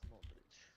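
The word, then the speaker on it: Modrić: It's pronounced Modric.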